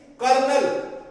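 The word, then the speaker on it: colonel: लिखने में तो क्या है? कोलोनेल, लेकिन इसकी जो प्रोनाउंसिएशन है वो कर्नल होगी।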